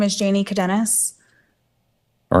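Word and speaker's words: Cadenas: you hello your honor my name is Janie cadenis all right can you spell that last name c-a-d-e-n-a-s okay go ahead also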